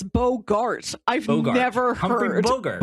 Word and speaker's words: Bogart: I've never heard anybody pronounce his name in a way that rhymes with yogurt. Really? Is that not how you say his name? It's it's it's a hard a. It's bogart.